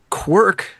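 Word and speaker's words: Kwirk: K W I R K. Oh, quirk.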